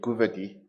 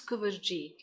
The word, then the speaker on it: Kooverjie: chief justice um advocate governor i hope i'm pronouncing it correctly it's uh yes jp it's cover g o thank you very